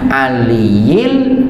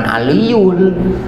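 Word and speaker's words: العليّ: La haula wala quwata illa billahil aliyil adim, jangan aliyul ya kan, jangan aliyul, salah harkatnya nanti.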